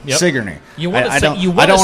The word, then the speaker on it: Sigourney: Sigourney? Sigourney, yep. Sigourney.